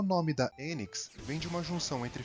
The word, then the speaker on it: Enix: No Ocidente é comum pronúncia mais próxima do inglês, Enix. Mas no Japão o nome da empresa se pronuncia Enix, ou melhor, Enix.